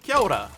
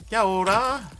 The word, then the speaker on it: kia ora: Kia space Aura. And you say Kia ora. Kia ora.